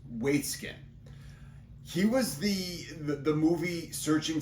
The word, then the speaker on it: Waitzkin: I had to Google pronounce this, so it's Waitzkin.